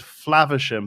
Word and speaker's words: Flavisham: So the correct pronunciation of the word Flavisham, basing it off of the derivative of Faversham, is you pronounce the a in fav the same way you pronounce the a in grass. So if you say grass and bath, you say Flavisham.